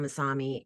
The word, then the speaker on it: Masami: want to focus on Mami is the gentle ripples of the ocean waves not the tsunami the rhymes with your name well that I'm adding